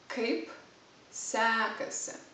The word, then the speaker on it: kaip sekasi: you is basically basically kaip sekasi the first word is harder really hard you have to pronounce kaip it's kind of an explosion kaip kaip sekasi the second word sounds a bit like sexy just the pronunciation kaip